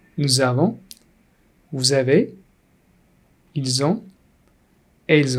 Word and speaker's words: nous avons: Here we link it. Nous avons.